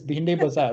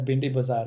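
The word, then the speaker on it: Bhendi Bazaar: And because when the English pronounced behind the bazaar, the local who heard it was like, okay, I heard it as Bindi Bazaar, and I'm going to pass it on.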